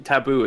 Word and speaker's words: Taboo: Taboo is how you say it.